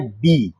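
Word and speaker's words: بِ: Lafaz ba itu kan ejaan huruf hijaiyahnya ba. Tapi kalau di dalam kalimat Arabnya itu bacanya bi.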